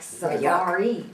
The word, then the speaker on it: Safar: But you see Safar, that's like Safari, you're gonna say Safar, so it's just to pronunciate.